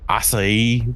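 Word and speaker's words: açaí: Acai berries. They were every commercial that was talking about acai berries was acai berry smoothies and stuff like that, because nobody bothered to look up how to actually pronounce it.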